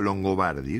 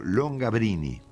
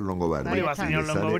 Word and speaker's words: Longobardi: que la máxima deformación que escuché ha sido long gabrini long quién te dijo longini Bueno un amigo escocés en Escocia que no tenía forma de de pronunciar longobardi long gabrini entonces Entonces yo qué hice frente